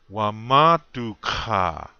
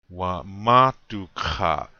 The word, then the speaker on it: Wamatuka: Wamatuka. This word means I'm tired. Wamatuka. Again, on the second syllable. Wamatuka.